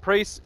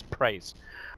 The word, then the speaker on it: PRIES: Up against Priest, you gotta say that, I gotta say them correctly as well as Priest. Praise is the way you're meant to actually pronounce it.